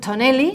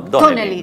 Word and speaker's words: Donnelly: Tonelli. No, Donnelly. Donnelly. Ah, Donnelly. Como si tuviera acento en la O.